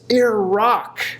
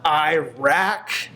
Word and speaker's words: Iraq: country she's never seen it's Iraq not Iraq it's I guess it was one of my complaints which she inherited it's not Iraq it's not Arab they're